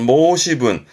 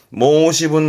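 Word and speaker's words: 申し分: 뒷글자는 분자죠. 발음은 모시분. 모시분이라니까 말할 부분을 말하는 거기 때문에 말할 부분이라는 것은 뭔가 부족한 부분, 나무랄 부분입니다만은 이것 또한 뒤에 나이 붙여서 모시분 나이.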